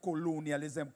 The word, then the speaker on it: colonialism: Sometime again when we come, we'll talk about the impact of colonialism, colonialism. The accent is on colon.